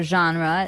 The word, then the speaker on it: genre: comes from French uh it's a g word so genre it's a soft soft sound and what's a genre